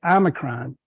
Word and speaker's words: Omicron: the media talk about this Omron or as some people like to say Omicron I go back with the Greek pronunciation because that's what I learned in college when I had to learn the alphabet as part of fraternity